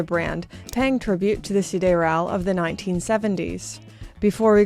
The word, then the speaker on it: Sideral: I believe this is meant to be pronounced Sideral, and while I know that is proper, I'm so sorry French speakers, but me and my